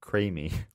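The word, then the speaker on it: creemee: the US of A we have something called a creamy pronounced creamy well I nailed it it's written CR ee m ee signs for these are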